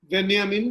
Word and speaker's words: Benjamin: उनका जो नाम है वो जर्मन में जैसा उच्चरित होता है उसी संदर्भ में देखने समझने की जरूरत है। तो जर्मन उच्चारण के अनुसार वो बेंजामिन कहना उचित होगा।